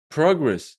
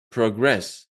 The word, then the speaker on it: progress: Well, record is the noun. Record is the verb. Progress is the noun. Progress is the verb.